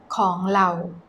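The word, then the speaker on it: ของเรา: ง เ ร า So Thai people will pronounce this ข อ ง เ ร า with an L sound not R ข อ ง เ ร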